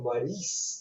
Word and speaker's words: Maurice: And then when he played the character Maurice on the show, he would say, no, you say Maurice.